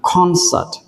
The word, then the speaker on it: concert: À, có nhiều bạn đọc là concert, ok, không sao. Nhưng mà chúng ta nhớ là trọng âm nó rơi âm tiết thứ nhất.